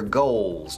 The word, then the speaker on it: goal: Your goals, tus metas, tus objetivos, your goals. Es decir, tu goal se pronuncia goal y se alarga.